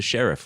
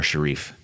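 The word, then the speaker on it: Sharif: See, when I spell sheriff with two Rs, I it makes me think of Omar Sharief. H. It's pronounced Omar Sheriff.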